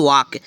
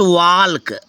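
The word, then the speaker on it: walk: ठीक है नेक्स्ट है यदि के से पहले एल आए तो एल साइलेंट हो जाता है के से पहले एल आए तो जैसे जसे फ्रेंड्स डबल ए एल के वाक बट इसको पढ़ते हैं फ्रेंड्स वाल्क बहुत बच्चे पढ़ते हैं वाल्क ये बिल्कुल गलत है वाल्क ठीक है मैंने वाल्क को गलत दे दिया वाक सही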